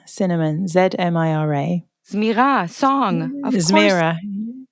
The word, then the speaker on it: Zmira: So, her name is Zmira Cinnamon, Zmira.